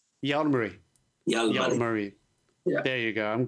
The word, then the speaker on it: Jalmari: Jalmari.